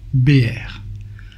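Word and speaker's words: באר: Le puits en hébreu c'est Be'er, un bet, un aleph et un resh. Cela signifie le puits, la source.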